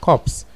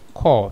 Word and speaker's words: corps: listening to us the word is call not cops you say cops you mean there is an